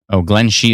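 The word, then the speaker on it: Glenshee: Glen Shee is how it's pronounced.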